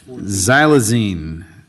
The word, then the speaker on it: xylazine: impacts oh Pan's here plion is here for xylazine tell us all correctly that's perfect pronunciation yeah or Tran yeah right Tran right